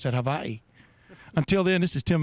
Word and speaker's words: Hawaii: Notice how I pronounce that, Hawaii.